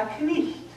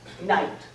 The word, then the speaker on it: knight: Chaucer pronounced the K, he pronounced that GH as a kind of explosion of breath. Knicht. And the vowel in the middle is icht. Shakespeare says, knight. No K, no GH, and he changes the vowel.